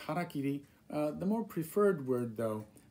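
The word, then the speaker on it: hara-kiri: trying to say is hara kiri it's two words hara means stomach kiri means to cut so to cut your stomach is harakiri right harakiri it's not hairy kerry as some people have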